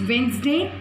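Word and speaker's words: Wednesday: Common noun में सिर्फ डे था, यहाँ पर वेंसडे, that is वेंसडे, the silent होता है वेंसडे में.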